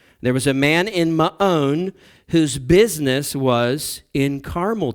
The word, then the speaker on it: Maon: Yes, again, that's the proper pronunciation. I know you guys think every time I pronounce it that way that I'm just setting myself up for a joke, but that's the way it's actually pronounced, Maon.